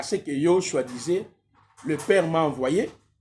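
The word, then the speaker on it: Yehoshua: pourquoi nous insistons toujours il faut prononcer le nom Yoshua parce que je vous ai démontré dans le nom Yhoshua il y a Yod et Shin va c'est ce que nous avons.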